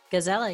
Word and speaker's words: Gazella: her pronounce her name is it gazella Gizella yep you got it there you go is